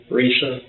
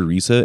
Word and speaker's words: Risa: Lisa, with the R. Risa?